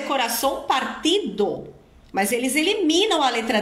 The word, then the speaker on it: partido: que você escuta então ele cantou ou coração Partio que é coração partido mas ele não pronúncia o d ele aspira Essa d então é coração Partio